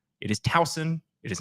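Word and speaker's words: Towson: z where there was an S it is talson it is not thousand John did you know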